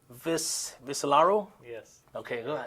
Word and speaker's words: Viscellaro: And, let me know if I pronounce your last name correctly. Viscellaro?